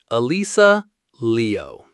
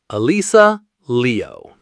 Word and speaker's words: Alysa Liu: To pronounce it correctly, the breakdown is Alyssa Liu. Alyssa Liu. Let's mash out the correct sounds with four quick, simple words. Uh lease uh Lee oh.